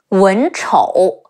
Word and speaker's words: Wen Chou: Ang, Liang, Yan Liang, Wen Chou, Wu En, Wen, Chi Ou, Chou, Wen Chou.